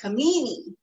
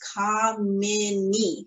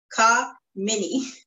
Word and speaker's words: Kamini: So I always emphasize to people that it's Kamini. So it's mini, like in Minnie Mouse, Kamini.